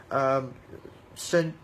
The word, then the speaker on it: Shenzhen: They're done in Shenzhen, and they offered one free sample. Shenzhen, that's how they pronounce it in Chinese.